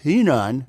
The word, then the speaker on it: Henan: Road, which supposedly stopped in Henan, which is pronounced Henan.